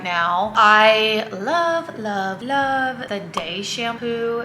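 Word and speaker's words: Dae: I love the Day shampoo. It's spelled D-A-E and it's by an initial like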